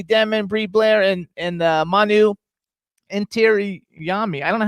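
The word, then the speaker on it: Intiraymi: Okay, it's his first name is Manu, and his last name is Intirami.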